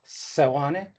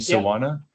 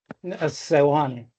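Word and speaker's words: Seoane: Uh Sane. It's hard to hear you, but I think you're saying Sana. Sane.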